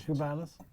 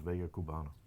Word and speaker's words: Vega Cubana: Vegas Cubanas? No, it's Vega Cubana.